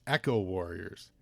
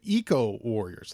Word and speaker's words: Eco Warriors: between Eco Warriors and Echo Warriors, and I'm happy to say I was wrong, because I think I always said Echo, but Eco Warriors, like Eco, like Eco Warriors won.